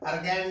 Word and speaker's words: Argand: I will have to go for exercise 1.3, but before that, this is what Argand diagram. I pronounce it as Argand. How you want to pronounce, that is up to you.